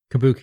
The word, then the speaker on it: kabuki: theater also appears during this period i probably butchered those words kabuki you got right yeah i've never been sure